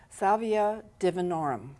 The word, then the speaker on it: Salvia divinorum: And how do you pronounce it again? Salvia divinorum.